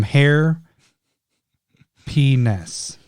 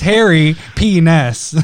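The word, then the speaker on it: Harry P. Ness: Or sorry, I completely ruined it. It's Harry Penis. I just said hair. That person must be so mad when you're doing their name wrong like that. It's Harry. My bad. Harry, middle name P, last name Ness.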